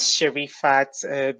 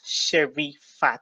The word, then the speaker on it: Sherifat: My name is Sherifat, basically just the way it looks, Sherifat. So no problems. I'm sure everyone can pronounce it. It's quite simple.